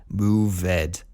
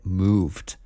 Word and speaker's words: moved: right you see Edie you want to pronounce it ed move it but this is wrong English is wacky and weird and wonderful but definitely wacky and weird and so we can't say move it we have to say moved entertained it know entertained